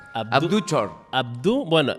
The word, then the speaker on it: Thior: Abdú Tior. Abdú Chor. Abdú, bueno, la pronunciación correcta sería Chor, pero vamos a españolizar el nombre y vamos a decir Tior.